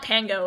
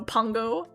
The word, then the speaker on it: Pongo: It's like, it is not Pango, it's Pong. It's like a ping pong, bro. Pongo.